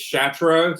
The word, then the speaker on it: Chatraw: It's Chatraw, so you can't look at this at the spelling. You just have to get the feel of how to say it, like a chateau.